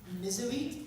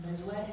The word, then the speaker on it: Mezwet: I started doing so it's pronounced for Arabic terms, Mizawit, but when you read it, it's pronounced Mezwet because it's spelled M-E-Z-W-E-T.